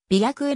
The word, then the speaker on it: 白衣: 合わせ様があるなお白衣はは食え白衣びゃくえなどと読む場合もあるコートヶ